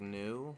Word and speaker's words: Nu: NU, which is pronounced like new, which I can understand why they didn't name it that because like the Right.